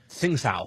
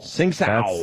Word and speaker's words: Tsingtao: Tsingtao. Tsingtao.